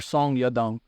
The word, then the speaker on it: Song Yadong: fighting yadong song or song yadong is how you would pronounce why you say the last name first yeah and Chinese you